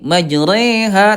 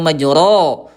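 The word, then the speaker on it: مجراها: Condong ya condong miring ya antara fathah dengan kasrah menjadi kayak ke e majre. Majreha tidak majro gitu ya.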